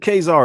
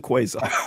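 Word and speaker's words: Quasar: I I keep getting told I uh I pronounced it wrong, but it's Khazar or something like that. Not quarant. Whoever said Khazar is wrong. He didn't do his homework. It's a quaazar.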